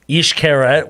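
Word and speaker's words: Xcaret: were in cozumel they took an excursion to east carrot which is spelled x-c-a-r-e-t yes and they went to the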